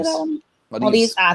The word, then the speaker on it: Maldives: Maldives.